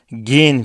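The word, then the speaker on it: gehen: demek gin fiili gitmek ortadaki h harfi e telaffuz videosunda yani alfabe videosunda ele almıştık Türkçedeki yeğen gibi Yiğit gibi kelimeleri konuşurken söylediğimiz yumuşak G gibi okunuyor yani H neredeyse okunmuyor gin daskin sinema demek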